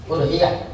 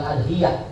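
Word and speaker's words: أضحية: Udhiyah. Ya. Bidomil hamzati, dengan doma hamzahnya. Jadi bacanya udhiyah bukan adhiyah.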